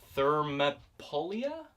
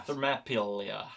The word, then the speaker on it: Thermopylae: By the Battle of, how do you pronounce it? Thermopylae? I'm not really good with Greek stuff, so that sounds like a Thermopylae effort. Yeah. Thermopylae.